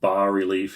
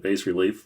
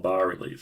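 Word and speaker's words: bas-relief: it's called, it's pronounced ba relief, if you can believe that. Uh I was always pronouncing it bass relief, which I think is pretty legit.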